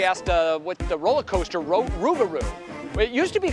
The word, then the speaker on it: Rougarou: How do you pronounce that? Rougarou. Rougarou.